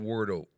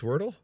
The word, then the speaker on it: Wordle: i am hooked on wardo i've been hooked on it for 88 days and i i i wondered and you don't have it's pronounced wordle wordle oh yeah i would say wordly jessica is jessica jessica